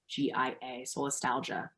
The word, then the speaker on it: solastalgia: Yes, it's called solastalgia, and I believe it's spelled SOLYS, or maybe it's ASTALGIA, solastalgia, like nostalgia, but for a place.